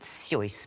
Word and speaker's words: Seuss: You're meant to pronounce it Seuss, but nobody does.